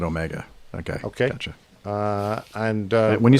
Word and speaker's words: Omega: I think there were probably 3 airplanes in the world, commercial airplanes, that still used Amiga. Omega. Okay. We pronounce it Omega.